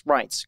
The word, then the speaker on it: Reince: Well, I was told to or think about it as pints, right. Pints of beer, pints, Reince.